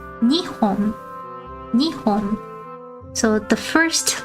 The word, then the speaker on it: 日本: When we say Japan in Japanese, we say Nihon. The middle letter goes up a little bit. Nihon. But for this one, when we count thin, long objects, we say Nihon.